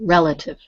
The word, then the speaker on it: relative: relative relative relative yes so the emphasis the stresses on the first syllable relative relative all right good